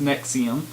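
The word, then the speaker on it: NXIVM: of called nexium but it's spelled NX IVM but it's pronounced nexium they're apparently both members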